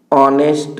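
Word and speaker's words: honest: का प्रयोग किया गया ऑनेस्ट में अ आ रहा है इसलिए एन का प्रयोग किया गया तो एन नेस्ट शब्द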